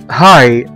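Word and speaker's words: high: وزي كلمة هاي، هاي او مرتفع او عالي، هنا الجي جه بعد منها اتش برضو في اخر الكلمة وبقوا الاثنين سايلنت وما نطقناهمش والكلمة اتنطقت بالشكل ده هاي، هاي او مرتفع.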